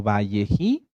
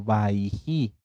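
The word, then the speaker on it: Vayechi: hebreas en algunas tanaj como valleji o como baiji en ambas pronunciaciones están bien bji o baiji qué quiere decir y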